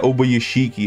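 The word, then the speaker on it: Ubuyashiki: So it's called Kaguya Obayashiki, okay? Simple as that. You know Obayashiki, like Ishiki from Naruto, but hey, we just put Obaya instead of the E. So Obayashiki, bro.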